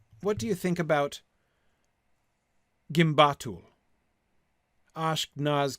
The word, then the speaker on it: gimbatul: Yeah, Tony says that the sound of the vowels also helps to show where the stress lies. Yes. It is 3 syllables instead of the 4 syllables in Durbatuluk.